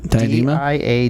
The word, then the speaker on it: Diadema: Diadema? Diadema.